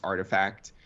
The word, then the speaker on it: RTFKT: uh the rtfkt studios it's actually pronounced artifact um okay so that